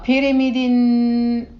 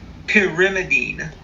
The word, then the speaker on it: pyrimidine: aurotic acid not erotic o-r-o-t-i-c in case my pronunciation is a vague uh pyramiding no you you say that one because I I twisted my time on that one pyrimidine pyrimidine carboxylic acid yes acid uh cholamine phosphate